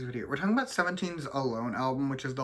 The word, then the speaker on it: Al1: that I learned that this album is actually pronounced alone so we're doing that one but we're doing